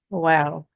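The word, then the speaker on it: واو: So wow, it's I guess easier for English speakers because it has the same pronunciation as the letter W, wish, want, wow. So it's not a difficult letter at all. For Urdu speakers, it can get difficult because Urdu speakers generally pronounce a lot of letters that start with the letter wow in Urdu with a V sound, like vaha, wo.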